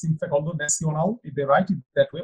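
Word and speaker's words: Nasional: It's in fact, although national, they write it that way, but it's pronounced as national, as same as English.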